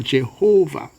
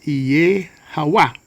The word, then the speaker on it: Jehovah: Okay, so when it is written as Jehovah, we tend to put the stress on the second syllable, Jehovah. But really it's Iye-Hawa.